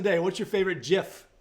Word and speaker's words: GIF: Anyways, the question of the day, what's your favorite GIF? And it is GIF. I looked it up. I've always said GIF. So I'm not going to be a GIF Nazi, but it is pronounced GIF.